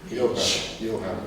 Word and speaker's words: Johan: first name again please it's like John A A after the Johan Johan Johan it's pronounced joh Johan doesn't right sorry I